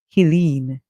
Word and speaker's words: Helene: them to pronounce it in the manner that the hurricane is pronounced as, which is Helene. Okay? Helene. Hurricane Helene. Some may want to pronounce it as Helen. However, Helen would not have a silent E at the end.